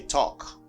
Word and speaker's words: talk: a video on that do not pronounce l you see in this word okay talk walk i